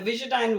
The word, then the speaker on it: Visudyne: You were referencing So, your work on, is it pronounced Visudyne? yeah, the Visudyne work was big success, and it was as happens in science, a side effect.